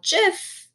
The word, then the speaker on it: GIF: tip on adding animated GIF to your Google Slides or Google Docs or any online document. Now, GIF, GIF, some people pronounce it as GIF, is a type of